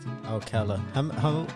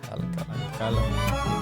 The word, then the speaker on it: Alcalá: Alcalá. How have people like pronounced your last name before? Alcalá. Alcalá. Alcalá. The accent on the second one.